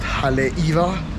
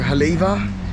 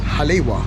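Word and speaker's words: Haleʻiwa: realized it was pronounced haleiwa or haleva not halewa yeah so just so you know the w's within the word is pronounced as a v versus like the w's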